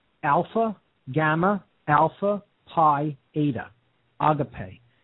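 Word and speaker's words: ἀγάπη: Gamma alpha PI ADA agape and I wrote it there with an accent an acute accent over the e so you know it is pronounced auto-pay and not a gate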